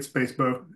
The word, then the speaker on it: SPSFC: I heard Baldwin call it Space Bow. They call it Spacebo, right? Yes, I think that's the emotional favorite is Spacebo, just because the people